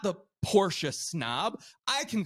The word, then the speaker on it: Porsche: short of the stereotypical Porsche snob right he is always this is the guy that will correct the Layman when he pronounces it Porsche oh no no it's Porsche you know yeah yep